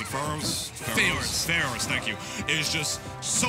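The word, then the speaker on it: Farore's: You know, a lot of Zeldas are really doing it, but the hitbox on Pharaoh's Wind, or however you pronounce it, Pharaoh's, thank you, is just so thick, so huge, much like Snake and his butt cheeks.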